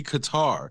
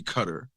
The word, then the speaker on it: Qatar: it becomes the accepted which is why when you're pronouncing it in English it's gonna be Qatar If You're Gonna Go Arabic then it's not even going to be it's definitely not going to be cutter so that's where I